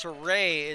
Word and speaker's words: Saray: So it's Saray is the proper pronunciation by the sounds of it, according to the timekeepers. So I've been close, but I've been a little off on that, so we'll try and